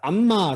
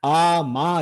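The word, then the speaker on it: אמה: 그래서 그냥 아마 이렇게 발음하지 마시고 암마 이런 식으로 맴이 2개 있는 것처럼 발음하시면 되겠습니다. 또 다게시 앞에 단모음 있으면 무조건 중복 다게시죠. 암마라고 발음합니다.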